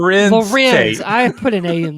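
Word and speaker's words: Larenz Tate: told Lawrence Tate, you know how I got these scars? Did you say Lawrence Tate? Yeah, what's his name? Lorenz Tate.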